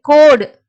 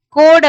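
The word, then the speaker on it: code: கோ இட் கோடு. கோடு அப்படின்னு உச்சரிப்போம். இங்க வந்து இ லாஸ்ட்ல வந்துச்சுன்னா உங்களுக்கு அது சைலண்டா வரும்.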